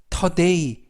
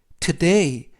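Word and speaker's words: today: 이중 보험으로 써 a 그래서 원래는 터 데이 이지만 5 발음이 약해져서 da 트 데이 라고 발음합니다 뜻은 오늘 이라는 뜻이고요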